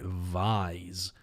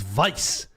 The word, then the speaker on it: Vise: Who the fuck's pronouncing it Vise? Like a visor? It's Vice. Like squish me between your thighs until I pop like a ripe cherry. Vice.